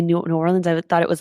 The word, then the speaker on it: New Orleans: We are here coming to you from XeroCon, from what I say New Orleans, but I've heard from my Uber driver from the airport to here that it's pronounced Narlands. So if you are here in New Orleans, say Narlands and you are good.